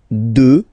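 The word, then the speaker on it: deux: 2, final X not pronounced, okay?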